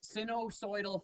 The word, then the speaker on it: sinusoidal: Okay, so we're going to today look at graphs of, as it says, sinusoidal functions is how you pronounce that.